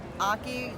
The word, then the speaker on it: Ache: Hey y'all, I'm Aki, pronounced Aki like hockey without the H.